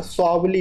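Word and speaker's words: Swally: ठीक है, स्वावली, प्रोनाउंसिएशन में थोड़ा मिस्टेक है दोस्तों, देख लीजिएगा, स्वावली नाम है।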